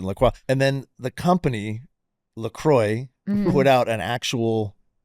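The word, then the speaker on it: LaCroix: It's Laqua. That's how you pronounce it." Laqua. And then the company Lacroy put out an actual like memo or like saying it is Lacroy.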